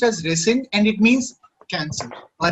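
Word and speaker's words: rescind: yes sir it's called resend okay okay it's pronounced as resend and it means cancel or reject the same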